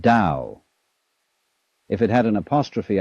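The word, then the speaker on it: 道: This principle of organic growth they call Tao, that's pronounced Dao.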